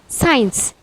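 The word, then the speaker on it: science: Like साइंस। साइंस में सी से पहले एस है और सी के बाद आई आ रहा है, तो यहाँ पे सी साइलेंट है, इसीलिए हम इसे पढ़ते हैं साइंस।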